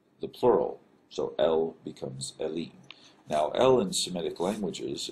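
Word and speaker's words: אלים: Now the plural form of this is Elim. This is a long E sound with this vowel mark and the yod and then the final mem.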